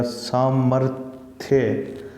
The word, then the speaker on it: सामर्थ्य: ऊपर जाके लगा है, लेकिन ये बोला कहाँ पे जाएगा, ये यहाँ पे बोला जाएगा सामर्थ्य। तो सामर्थ्य बोलते हैं तो रै उच्चारण करते समय ये यहाँ पे, और इसकी सही जगह कहाँ पे है, ये यहाँ पे है इसके साथ में, ठीक है।